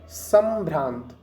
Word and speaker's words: संभ्रांत: हमने इसको क्या बोला, संभ्रांत। हमने इसको, ये जो अंक की बिंदी लगी है इसको हमने माँ का उच्चारण दिया।